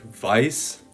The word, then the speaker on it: weiß: So whether you see a sound like I, as in the word weiß, then you know that it's going to be pronounced like an I. So in this case, the word weiß is going to be pronounced like my.